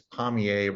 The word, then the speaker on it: Pommier: And the correct pronunciation of my last name is easy to remember for astronomers because it's Pommier, rhymes with Messier.